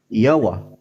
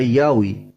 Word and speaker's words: Yahweh: Tapi dibacanya Yawa. Ada Yawa, ada Yawi.